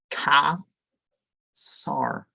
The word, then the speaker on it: Caesar: Other Caesar, there's not, but the C is a, so Ka Sar is this name.